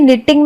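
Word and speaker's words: knitting: वैसे ही निटिंग में K silent है और दूसरा T भी साइलेंट है। इसको हम जब भी पढ़ते हैं तो ऐसा लगता है हम इस तरीके से पढ़ रहे हैं, NITING निटिंग, लेकिन एक्चुअली में ये K से होता है निटिंग।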